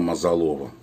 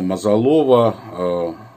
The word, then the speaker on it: Мазалова: вообще всех армян, Дана Мазалова. Да-да, именно Мазалова, неправильно у нас обычно ее произносили фамилию Мазалова. И когда я был у нее в Праге, тогда я узнал, что она Мазалова.